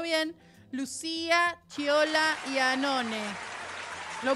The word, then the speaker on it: Chiola: Y está con nosotros, espero pronunciarlo bien, Lucía Chiola Iannone. ¿Lo pronuncié bien? ¡Ay, muy bien! Perfecto. Tengo un problema con las pronunciaciones. No, el italiano, viste, que es Chiola, pero yo no lo uso así.